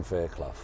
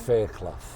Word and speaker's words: Fairclough: Fairclough. Fairclough. Fairclough. Faircloughh. Fairclough. Yeah. Fairclough. Some people used to pronounce it Fairclough. Some, when I was at school and stuff like that, but it's Fairclough.